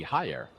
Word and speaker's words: Haller: Actually, I'm missing my Spanish pronunciation there. That should be Haller with the double L's.